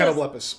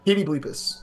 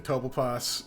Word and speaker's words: Catoblepus: it's It was it starts with Catoblepus or Yes. Yeah. Catoblepus. Catoblepus. Or Kitty Bleepus, as you pronounce incorrectly, which is fun to say.